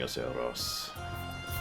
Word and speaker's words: Aceros: Good morning, Aceros. Ros! I keep forgetting to pronounce it correctly.